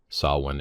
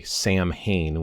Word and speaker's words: Samhain: And the word itself, like I said, there is an Irish word, sah-win, and that is for the actual month of November. There's also other Gaelic words that are similar in their pronunciation. And I do have some pronunciation guides. A lot of people get confused. They want to say Samhain when they see this word. Well, this isn't Samhain.